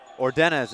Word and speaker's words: Ordenez: We apologize for mispronouncing your name. Ordenez is the correct pronunciation.